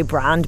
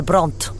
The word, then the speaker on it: Brand: I do actually just say Brand, but he always says Lucinda Brandt.